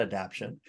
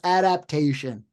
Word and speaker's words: adaptation: starting Nick Cage and I've heard people call that adaption it's like have you seen it just it's grinding a syllable it's adaptation if you're listening to